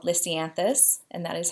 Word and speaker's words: lisianthus: on the crepe paper kind of die called lisianthus and that is how you say it I